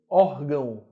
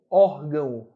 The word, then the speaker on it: órgão: decrescentes vogal mais semivogal nota que a letra O tem som de u órgão órgão né é fraco o ar